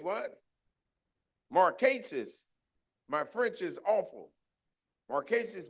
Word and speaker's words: Marquise: Am I pronouncing the name right? What is it? It's what? Marquise.